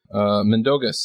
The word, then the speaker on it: Mindaugas: Mindaugas, that's how you say it.